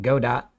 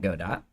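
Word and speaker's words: Godot: good do anyway so this person heard the developer call it God dot that's enough for them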